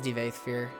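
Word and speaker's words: Divayth Fyr: Actually, how do I pronounce his name? 1 second. Yeah, it is Devaithfear.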